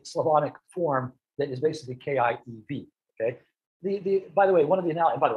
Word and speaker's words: Kiev: please right it has kia kiev is what has ended up becoming the russian pronunciation but you will see